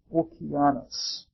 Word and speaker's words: Oceanus: deity or titan called Oceanus. The Greeks would pronounce it Okeanos.